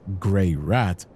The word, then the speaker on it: Greirat: Pronounced Greirat, it perfectly breaks down his peculiar character.